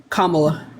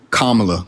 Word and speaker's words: Kamala: her name one more time so I don't pronounce it and disrespect it Kamala kamla Kamala Okay cool so and I just I